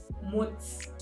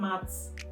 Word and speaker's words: Mutz: It's Mutz, not Mats. Mutz, in terms of, like, short of my surname, Muteye. It bothers me when people say Mats.